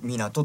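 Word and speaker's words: 湊: 、まあ、山水に、まあ、奏でると書いて、まあ、港と呼びます。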